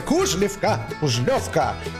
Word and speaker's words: Кужлёвка: я да Вот я кушалевка ударение на ё потому что по русскому языку ударение всегда найдем здесь только надо было